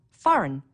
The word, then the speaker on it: foreign: Foreign, a G that you don't hear.